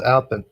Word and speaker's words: Albin: Albin. It's pronounced Albin. Albin.